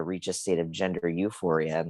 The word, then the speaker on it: Youphoria: the work with gender euphoria and it's spelled y-o-u like euphoria and yeah the link